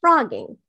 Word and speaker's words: phrogging: it's spelled p-h-r-o-g-g-i-n-g but it's pronounced frogging as in the ribbit kind of frogs like this but it's